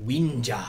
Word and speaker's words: Wenja: How do you say it? Wenja. You say it cool. Winja. Winja. That's the way they were saying it.